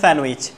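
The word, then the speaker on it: sandwich: আছে যেটাকে আমরা বলি স্যান্ডউইচ কি বলি স্যান্ডউইচ উচ্চারণ হবে স্যান্ডউইচ স্যান্ডউইচ সবাই একসাথে বলি স্যান্ডউইচ স্যান্ডউইচ যেটা কি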